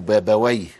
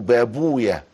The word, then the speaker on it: بابويه: نعرف ابن بابويا القمي يقولوا بابويا ويقولوا بابويه لكن احنا عندنا المحدثون يقولوا بابويا واخد بالك سيبو ارويا يقولوا ويه ده اسم شيطان لكن هو بيتنطق في الفر بابويا فهو زي كده رائحه